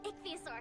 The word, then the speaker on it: ichthyosaur: This is an ichthyosaur, and that is so that's how you pronounce it.